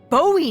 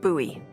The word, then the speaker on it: Bowie: out this huge Rusty Bowie knife it's actually pronounced buoy what no it's like